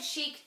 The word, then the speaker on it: chic: of the things and I wanted chic to rhyme with boutique yes and it doesn't really matter because everybody says chick so if you've seen